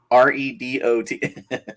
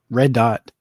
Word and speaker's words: Redot: on the first line how do we pronounce uh r e d o t okay we've got redo we've got redo we've got uh what am I missing um redot Red Dot and yeah any way you could think of saying